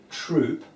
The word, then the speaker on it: Throop: This is Charles Thson is a bit sore is wrong because his name is spelled throo but it's pronounced troop whereas my name is